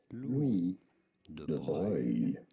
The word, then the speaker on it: Louis de Broglie: Louis, which is of course how we say this in French, silent S. Louis de Broglie. Louis de Broglie. I know it is an unusual pronunciation. It's got anything or hardly anything to do with how it is spelt, but that's how it is said in France.